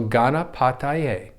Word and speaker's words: Ganapataye: dad pa so think pa so gana pa and then think of a tie your dad's wearing a tie so paz wearing a tie ghana pa tai and then just a long a so ghana patay so think of ghana pa tai a and then just roll it all together so and then namaha